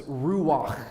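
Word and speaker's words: רוח: for us as spirit in hebrew it's ruach or if you really want to get the hebrew pronunciation down a little bit better it's ruach you sound like you want to clear your throat and that's that hebrew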